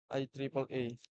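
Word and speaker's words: IEEE: Organisasi standar ini meliputi hal-hal berikut yaitu Institut Insinyur Listrik dan Elektronika atau IE diucapkan IAEA.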